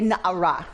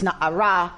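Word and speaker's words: נערה: There should have been a Hey at the end to say Na'ara. That Hey tells us how to vocalize the consonants. That Hey, right, means it's Na'ara, not Na'ar.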